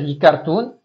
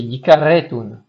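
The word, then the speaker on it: יכרתון: Alors attention, sous le resh, il y a un tiret. Donc, il faut pas dire yikartun, c'est yikaretun. Yikaretun.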